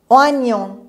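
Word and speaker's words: oignon: مثل آنیون، آنیون، ما اینجا یهی نداریم ولی اینو میخونیم نیه.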